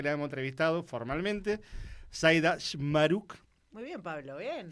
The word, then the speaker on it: Chmaruk: Zaida Shmaruk.